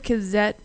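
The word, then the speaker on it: Cazzette: I've heard of Kazette before, and I say that way because it's actually spelled with Z, C-A-Z-Z-E-T-T-E, all caps, but they're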